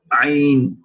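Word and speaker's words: ع: Ayn, al-aynu. Look how the epiglottis moves back all the way when ayn is pronounced.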